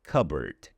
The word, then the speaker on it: cupboard: Now, it is logical to think that this word might be pronounced cupboard, since we know the word cub and the word board, and separately they're actually pronounced that way.